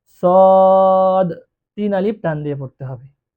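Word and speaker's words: صاد: আমরা এটাকে সোয়াদ বলি সোয়াদ না সঠিক উচ্চারণ হলো সদ তিন আলিফ টান দিয়ে পড়তে তারপরে আছে দ।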